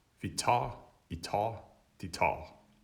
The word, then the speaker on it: tager: tager, I tager, de tager. It's just ta the whole way through, with the G not pronounced.